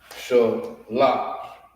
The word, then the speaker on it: Shalash: pronounced Shalash.